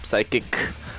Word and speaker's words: Physick: on the top side we've got psychic the psychic as his name is pronounced and on the bottom